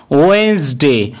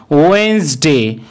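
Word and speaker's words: Wednesday: এখানে DN একসাথে থাকার কারণে ডি লেটারটির কোনো উচ্চারণ করা হবে না। সেই কারণে এই দিনটিকে বলা হবে ওয়েন্সডে। ওয়েন্সডে।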